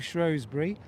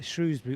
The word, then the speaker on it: Shrewsbury: What a coincidence that you were in Shrewsbury or Shrewsbury at the same time as I was. Let's just call it Shrewsbury. Yes. And have done. It is Shrewsbury, and that is what I'm calling it. I'm sure lots of locals around here would challenge me to a fist fight over the name.